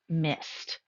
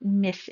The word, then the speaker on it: missed: Now, I'd like for you to notice the pronunciation of missed. It is not missed. It is missed with a t sound.